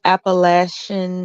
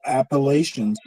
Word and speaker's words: Appalachian: he makes a good point um Stanley makes a good point about um Appalachian and you know just other communi up you know the appalation or Appalachians how you know you can pronounce it either way um there are